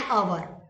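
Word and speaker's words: hour: Next है एन अवर। तो अवर के सामने एन आया है क्योंकि अवर का जब हम हिंदी में लिखेंगे तो अ, ओके, क्यों तो एच जो है वो साइलेंट है, तो अवर कहेंगे अब जब हिंदी में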